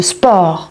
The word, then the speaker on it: sport: jamais le thé de sport. Je dis pas sport, pas comme en anglais, je dis sport.